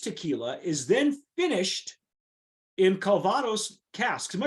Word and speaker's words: Calvados: But a first for the brand, the blended aged tequila is then finished in Calvados casks. Am I pronouncing that correctly, Jim?